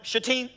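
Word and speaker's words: Shittim: set out from chatim it's important young people that you put the emphasis on the second part of that town chatim because I grew up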